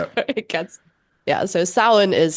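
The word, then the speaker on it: Samhain: Um, Amina, when you say sin, uh, that's what other people might recognize as Sam Hayne, right? Yeah. It's not pronounced Sam Hayne.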